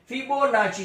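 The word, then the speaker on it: Fibonacci: इसका प्रोनाउंसिएशन नाची है, नासी नहीं है. फिबोनाची series, right.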